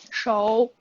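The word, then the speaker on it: 熟: Is it shu or is it show? Shou. Show. This character can be pronounced in both shu and shou.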